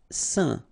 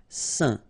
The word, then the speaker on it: saint: Saint. Okay, combination of A, I, N, phonetically will give you this un pronunciation. Saint.